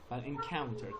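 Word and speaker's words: encounter: حواستون باشه فقط انکاونتر تلفظش رو دقت کنید. انکاونتر کاو قشنگ کانتر انکاونتر و بعدیش هم اکر تلفظ دقیقش میشه اکر نگید اکر.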